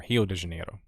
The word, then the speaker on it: Rio de Janeiro: uh sao paulo and rio de janeiro or hilo de genero as they pronounce it but brasilia is actually